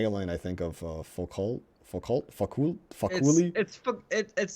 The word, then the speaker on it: Foucault: line I think of Foucault Foucault for cool its I just looked at Foucault it's that but I would think you wouldn't pronounce the T at the end if it's friendly phone